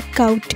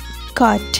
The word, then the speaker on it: caught: अक्सर लोग इसे caught कहते हैं. इसकी सही pronunciation caught है.